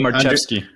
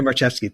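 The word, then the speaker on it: Marczewski: player types I I not sure how to pronounce his name but U Andre marki Andre marcheski thank you I I've been saying it wrong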